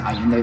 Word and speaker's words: Ayinde: My name is Ayende, and you can find me on all social media platforms under Ayende.